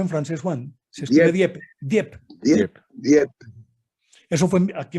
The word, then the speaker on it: Dieppe: Se escribe Dieppe.